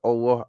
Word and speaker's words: Allah: right okay um okay we call Allah Allah where the L is pronounced so you're right we do pronounce the L letter in oah's name oh